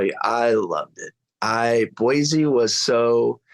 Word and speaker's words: Boise: I loved it I Boise was so it's actually it's not they pronounce it Boise it's not Boise boyy boyy okay like that's like a